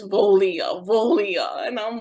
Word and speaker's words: Voglia: Because I would have totally gone with however, Voglia or whatever, because yes, the G is silent. So that silent little consonant in there.